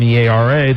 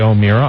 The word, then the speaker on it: O'Meara: pronounced our name, and I'm sure that there are people that have O''MEARA that say O'Meara. I'm sure there are. Yes. But we have always said O'Meara, and that's the way it is.